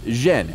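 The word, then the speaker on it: 甄: also known as Canton in the Beijing dialect his surname is pronounced zhen and Yin is the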